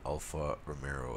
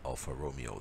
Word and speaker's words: Alfa Romeo: views but alright but they also expelled it alpha Romero and you can see right in the title how it's spelled alfa romeo the proper food unquote proper way as i certainly remember alpha romero I was pretty sure